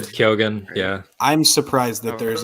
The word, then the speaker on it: Keoghan: keoghan i don't know how to say his last name um i've always said kyogen yeah i'm surprised that